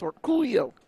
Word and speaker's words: Orcollo: Dennis Orcullo. Yes, and that's how you say his name. It's Orcullo. Cuz we we asked him